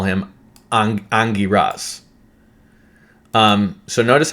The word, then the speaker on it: Angiras: going to call him Angiras. So notice how it says Angiras. Notice how it's changed over. So it's not Agniras, it's Angiras, okay?